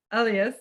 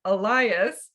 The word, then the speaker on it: Elyas: you were so polite, you didn't stop me, but later on, you told me that actually you prefer to be called Elyas, and I think many Americans pronounce it 'Elias.'